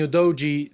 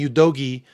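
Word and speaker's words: Udogie: very clear with the destiny UD DOI Destiny Yogi excuse me I know he pronounced his name Destiny Yogi um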